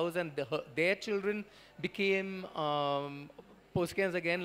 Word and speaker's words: Poskem: It's called Poske, where it's Poskem, but Poske is the pronunciation.